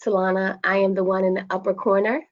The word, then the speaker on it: Talana: I know it looks like it's pronounced Talina, but it's Talana.